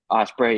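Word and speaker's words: Ospreay: do you say his last name ospre yeah Osprey yeah I know he says he wants it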